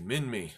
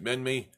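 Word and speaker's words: Minmi: was the shortest I know name very easy min me has nothing to do with Austin Powers movie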